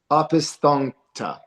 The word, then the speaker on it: Opisthokonta: It's spelled Opisthokonta, so it's Opisthonkta, and we were in the early part of terrestrial Earth.